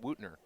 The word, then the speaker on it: Wootner: And that is pronounced Wootner. I was wondering how that was Wootner.